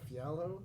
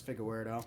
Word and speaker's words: Figueiredo: it's pereira versus uh fiallo is that how you pronounce that no it's moreno versus figa weirdo you're a close key